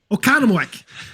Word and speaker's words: Oconomowoc: Okonomowak.